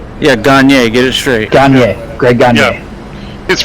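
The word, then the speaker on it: Gagné: for the dodgers who's the last thing was ganji yeah gagne get it straight greg he's french canadian great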